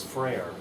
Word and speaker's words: Frere: But My last name is Frere, and it's spelled just like prayer, but with an F.